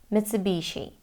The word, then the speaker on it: Mitsubishi: multinational automotive manufacturer Mitsubishi Mitsubishi so American and British pronunciations are the same in Japanese though it sounds like two separate words and they say Mitsubishi Mitsubishi okay so the next one